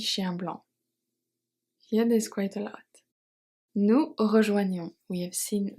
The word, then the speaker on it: blanc: petit t is silent and blanc is silent of cours nous rejoignons